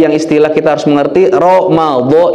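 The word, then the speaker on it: رمضان: Ramadan juga, makanya itu tadi yang istilah kita harus mengerti, Ramadan itu pakai dod. Jangan sampai kita kadang kalau di Latin pakai D ya, harusnya pakai DH atau DL untuk menyatakan dod, ejaannya. Tapi kalau Ramadan atau Romadiyun itu artinya al-umyu.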